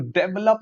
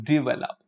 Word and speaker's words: develop: Um, I'm trying to develop my personality. No, no, no, no, no. It is develop. I'm trying to develop my personality. So look at this here. Develop. It's not develop. It's develop.